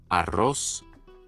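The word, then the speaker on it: arroz: Arrow flying into rice Aros a r I'll spell it right here a r r o z Aros so that's just a a small example of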